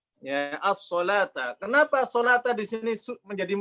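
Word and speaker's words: الصَّلَاةَ: Ya, as-sholata. Kenapa sholata di sini menjadi muskilatul kalimat? Karena kalau orang awam bacanya apa? As-sholawat. As-sholawata, ya, rawan as-sholawata.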